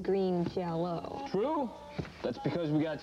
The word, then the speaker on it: Green Jelly: Now, Joe, the band is called Green Jelly, and it's even spelled Green Jelly, but yet the pronunciation is Green Jello.